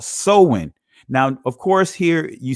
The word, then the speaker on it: Samhain: it and say um pronounce this word as samhain but it's actually sowing all right so halloween